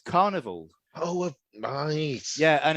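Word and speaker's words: Karnivool: It's Carnival. Oh, nice. Yeah, and it's spelled, so Carnival's spelled with a K, K-A, and then Vool, V-O-O-L.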